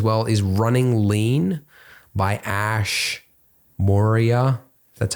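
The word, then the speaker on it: Ash Maurya: And another book I'd recommend as well is Running Lean by Ash Moria.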